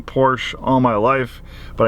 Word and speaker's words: Porsche: all my life, but I know it's supposed to be pronounced Porsche, so I'll do my best to say Porsche. We have a manager here, it's one of his pet peeves, and I'm like, you know, tomato, tomato, and his response says, well, Ferdinand Porsche's name is pronounced Ferdinand Porsche, so it's Porsche.